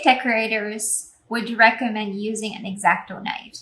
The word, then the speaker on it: X-Acto: cutting most cake decorators would recommend using an x-acto knife exacto knife an x-acto knife is used in arts